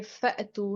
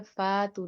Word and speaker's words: فأتوا: इसको आपने ये फ़अतू है, फ़ातू नहीं पढ़ना है, ये अलिफ नहीं है, इसको हमजा कहते हैं। इसके ऊपर जज़म की अलामत है, आप झटके से अदा करेंगे।